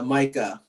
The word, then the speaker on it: Micah: Micah or Micah, how do you pronounce that? Yeah, Micah.